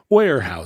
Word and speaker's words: Weyerhaeuser: It's a silent Y. Don't say the Y. Weyerhaeuser. I'm a stickler for the Y. You can like dip down into the Y a little bit. Weyerhaeuser, but it's Weyerhaeuser. They're just saying it wrong.